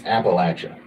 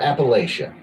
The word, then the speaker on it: Appalachia: I hereby declare that the correct way to say Appalachia is Appalachia think of a think of a I'm throwing an Apple at you right not Appalachia and the way to prove